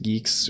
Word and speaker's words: Guix: I would be using guix Geeks or whatever yeah someone told me a long time ago that you pronounce it Geeks um to lose a